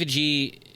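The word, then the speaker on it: Agee: fun she's voice Steve a g how do Ming yeah yeah mingen um Steve how do you say his last name a g like like two letters AG yeah right so Steve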